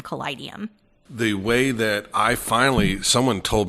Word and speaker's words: Kaleidium: And I said, so think about it as a kaleidoscope. How would you say kaleidoscope? And then just add the ium at the end of Kaleidium.